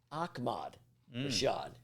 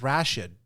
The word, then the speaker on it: Ahmad Rashad: Well, this article said his name is pronounced Ahmad Rashad. Did anyone ever know that? Is that? I've never, because he used to have the Ahmad Rashad show. So they said, it's pronounced Ahmad. I didn't know that. I knew it was Ahmad. I thought it was Rashid.